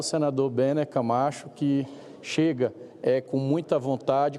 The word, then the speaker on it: Bene Camacho: Eu consulto, senador, me parece que eu errei a pronúncia do nome de Vossa Excelência, é Bene... Bene Camacho. Bene Camacho, né?